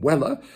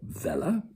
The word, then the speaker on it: Weller: Pickwick's inimitable servant, Sam Weller, or Vella, the pronunciation is all according to the taste and fancy of the speaker, leapt into Dickens's brain,